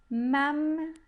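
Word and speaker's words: ממלכות: Primeiro shvá fechando a primeira sílaba e o segundo shvá abrindo a segunda sílaba. Por isso, o primeiro eu não pronunciei e o segundo eu sim pronunciei.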